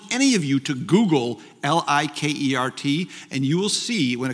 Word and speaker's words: Likert: and I challenge any of you to Google Li ke R T and you will see when it comes up in wikipedia says the most mispronounced name in science and they interviewed his